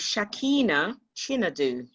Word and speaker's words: Shakina Chinedu: So let me help you with the pronunciation, which is very easy. It is Shakina Chinedu. Thank you. Shakina Chinedu.